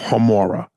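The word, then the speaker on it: Gemora: and love jamora the G is pronounced like a h o homura hamora Instagram is at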